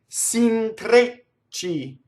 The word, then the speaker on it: s'intrecci: Now notice there's a double ch, and that is a hard consonant. Again, it's done the same way, same manner as double G and double T. We go up to it. We don't say it. We only do one, and then we do it. S'intre, right? S'intrecci. Trecci. Okay? It's not s'intrecci.